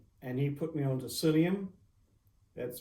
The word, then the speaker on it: psyllium: And he put me onto psyllium. That's spelled P-S-Y-L-L-I-U-M.